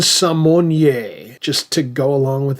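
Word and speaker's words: Symoné: of us can remember, recently decided that we've been pronouncing her name all wrong for her entire career. Her name according to her has always been pronounced Raven Simmon just to go along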